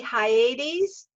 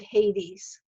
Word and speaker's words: Hyades: And his name was supposed to be Hyades, but everybody pronounced it Hades.